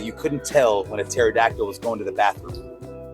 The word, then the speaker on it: pterodactyl: Why do scientists believe that you couldn't tell when a pterodactyl was going to the bathroom? Well, because the pee is silent.